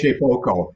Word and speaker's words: Shapeoko: How do you pronounce that, Bob? You know more than me. Shapeoko, and that's what Tim has.